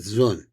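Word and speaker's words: זון: Let's pronounce it zun.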